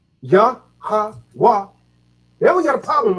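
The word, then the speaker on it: Yahawah: Yah-ha-wah. Yah-ha-wah. The H is silent.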